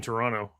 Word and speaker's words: Toronto: You're like, you're like the Canadians, but they don't say they don't pronounce the T in Toronto.